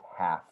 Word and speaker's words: half: uh you don't really have to use uh pronounce the l it's just half half oh okay okay half okay and you